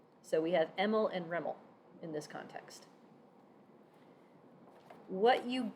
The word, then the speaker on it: REML: alternative is something called restricted maximum likelihood or residual maximum likelihood and that is pronounced reml so we have EML and reml in this context what